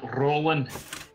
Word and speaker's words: Roland: It's how you pronounce the name. Roland. You've got Rolling- to roll your R's.